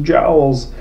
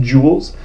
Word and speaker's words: joule: so I do want to say all those jowls it's pronounced joules it's named after a French physicist and so